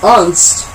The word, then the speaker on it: Unst: With its frothing seas, soaring cliffs, and grassy plains, it's easy to see how Unst is basically UNST. That's how it's spelled. That's how it's said.